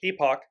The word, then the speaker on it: epoch: of Epic an Epoch that's how it's pronounced in British English Epoch proportions so it's both